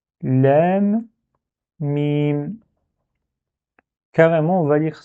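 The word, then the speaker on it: لام: On dit Lem. Et ça quoi? Et dernière lettre, c'est quoi? C'est Mim. On dit Mim. Du coup, la première case, on va lire carrément Elif, Lem, Mim.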